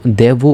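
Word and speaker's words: devo: দেবু যখন বলবো বা করতে হয়, আমাকে করতে হয়, এই শব্দটা যখন বলবা তখন কিন্তু দেবু উচ্চারণ করতে হবে।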